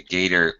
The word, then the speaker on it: gaiter: I guess it's actually gaiter, G-A-I-T-E-R, not gator like alligator like I wrote it.